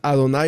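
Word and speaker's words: אדני: Adonai o adoni tras las dos palabras de acuerdo a las nikudot se pueden pronunciar adonay o adoni pero en el hebreo sin los puntitos se escribe igual le dijo Adonai a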